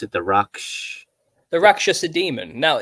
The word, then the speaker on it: Rakshasa: How do you pronounce it? The Raksh. The Rakshasa demon. Now Rakshasa.